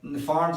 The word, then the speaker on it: Pfund: ये कहलाता है फॉन्ट सीरीज। इसके आगे पी भी है, लेकिन पी साइलेंट है, तो इसको फॉन्ट सीरीज कहा जाता है।